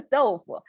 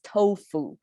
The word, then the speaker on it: 豆腐: Tofu is how we, fully pronounced as tofu, but a lot of times, because this is so common in our daily cooking, so we say tofu. the becomes like a very light.